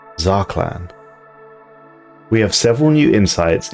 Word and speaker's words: Zarqlan: still incredibly relevant spiritualistic Fallen Empire Prophet called zakan which is according to brand new information actually pronounced zaklan we have several new insights into this character